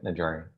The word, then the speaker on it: Najari: Najari, and am I pronouncing that correctly? That's correct, yeah, Najari.